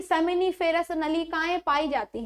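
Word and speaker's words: seminiferous: ठीक है, कौन सी, सेमिनिफेरस नलिकाएं, जिसको हम लोग कह देते हैं सोमिनिफेरस नलिकाएं, है ना। तो थोड़ा प्रोनाउंसिएशन में अर्थ ध्यान रखा करें क्योंकि बायोलॉजी में उसका अर्थ बदल जाता है।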